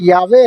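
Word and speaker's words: Yahweh: इब्रानी लोग इस यहोवा को, जिसकी सही प्रोनाउंसिएशन यावे है, नहीं पढ़ते।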